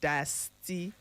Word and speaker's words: diastema: It is spelled Diastema, but it's pronounced diastema.